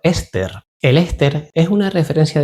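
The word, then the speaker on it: €STR: Su objetivo es seguir el comportamiento de un índice basado en el STR, pronunciado Ester.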